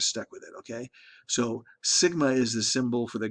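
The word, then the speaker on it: σ: symbol for you you the way you pronounce this little symbol here is sigma so it's sigma squared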